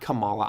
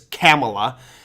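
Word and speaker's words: Kamala: always say Cala well it's not Camala I know that it's camela um so yeah I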